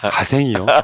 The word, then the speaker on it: 갓생: 우리는 이걸 갓생이라고 읽는데 가생이요. G.O.D. 갓생.